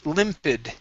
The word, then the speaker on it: limpid: This word here is pronounced limpid. Short I sounds.